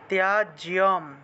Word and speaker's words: ত্যাজ্যম: নম্বর দেখুন ত্যাজ্যম তসের জফল আসার জন্য তীয় উচ্চারণ ত্যাজিম 200 বদকে আপনারা কোন জায়গায় না বুঝলে